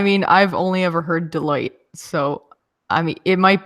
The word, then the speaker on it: Deloitte: just sounds like you're it's like you're saying Delaware and then you like get cut off alright final thoughts though